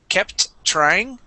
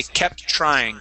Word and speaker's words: kept trying: We do not need to pronounce a T twice. Okay, here you had said kept trying. Okay, we can combine those T's and only pronounce it once.